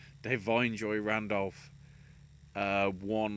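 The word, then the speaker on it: Da'Vine: Considering, you know, Devine, as now apparently it's pronounced, Devine Joy Randolph won like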